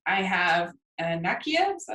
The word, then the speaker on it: Nakia: All right, so we have at number 3, I have Nakia. Is that how you say it? Yeah, Nakia from Black Panther, and Lupita Nyong'o is incredible,